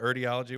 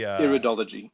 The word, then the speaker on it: Iridology: The Erdiology. What was it? How did you pronounce it? The eye thing? The eye thing. The Iridology.